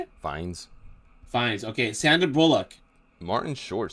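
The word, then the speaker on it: Fiennes: Moses he's the main character it has Ral fenes fines how do you say it fines fines okay sander Bullock Martin Short Steve Martin Patrick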